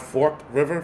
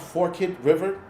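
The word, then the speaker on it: Forked River: Not Fork River. Forkid River. What is it with these pronunciations? I mean like I listen I learned English and it said Fort E. Fortit not and it's pronounced forkit river.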